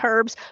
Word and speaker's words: herbs: Is it herbs or herbs? Is the H silent? I say herbs because I was trained by British teachers, and they pronounce the H, so it's herbs.